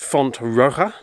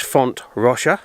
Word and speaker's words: Font Roja: I'm at Fonte Russia in the past I've pronounced it font Aroha but I've discovered that wrong because it's a Valencian name so the pronunciation of the GA is different so it's font Russia it's near to al-khoei